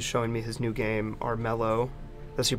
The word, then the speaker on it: Armello: Trent kusters he's showing me his new game arelo that's you pronounce it right yep Aro so this is the first screen that we